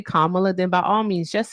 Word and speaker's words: Kamala: Kamala. Kamla. Crooked. Kamla. It's Kamla. Hey Mr. Tai, it's Kamla.